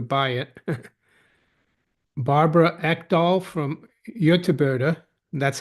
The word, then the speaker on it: Göteborg: Barbara Ekdahl from Göteborg, that's how you pronounce it.